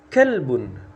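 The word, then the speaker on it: كَلْبٌ: pedagang berikutnya Bang had kalbun had kalbun Nah harus jelas ya kalbun pakai ka pakai Kaf ya ini seekor anjing kalbun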